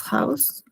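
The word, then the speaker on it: Haus: Y a ver, tenemos cuando está al comienzo de una palabra se pronuncia como una J, pero una J suave. Eh, por ejemplo, das House en la casa. Sí. Y sí, acá es como house, una J house y también cuando está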